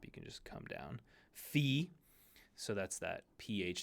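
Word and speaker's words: phi: okay that u sound Fe this is the the like in phone the pH F Fe just do it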